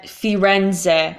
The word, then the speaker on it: Firenze: so in English people would say you rent Firenze or Fiat a Firenze mm-hmm so we tend